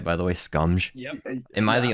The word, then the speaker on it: Scumge: Scumge?